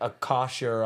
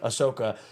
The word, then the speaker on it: Ahsoka: But I hear like Akasha, I'm getting the name wrong. Ahsoka.